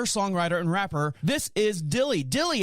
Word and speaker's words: Dyli: i was like going is it daily no it's just plain dilly just like it sounds just silly so you're